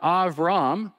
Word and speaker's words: Avram: The word Avram, that's the way the Hebrew pronunciation of his first name, Avram means exalted father.